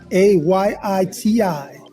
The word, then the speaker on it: Ayiti: ChefStefan.it, AYITI. This is the correct way to say Haiti.